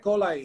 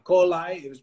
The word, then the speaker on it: coli: La Escherichia coli está sorry que tenga la pronunciación que le dan los yankees más, ¿no? Que es la I, la pronuncia como I, coli, para mí es coli, o sea, del colon, ¿no?